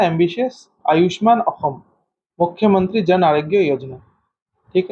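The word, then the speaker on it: অসম: So Ayushman Assam नहीं बोलेंगे इसको, आयुष्मान अहम। ठीक है, अहम प्रोनाउंस होता है, एस वहां पे ह होता है।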